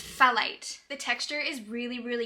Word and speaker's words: phthalate: What does PHTH sound like? I think it's phthalate.